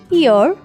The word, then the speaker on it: heir: Next word is ईयर, एच is silent. British accent के according H जब किसी word के स्टार्ट पर आ जाए तो वो साइलेंट होता है।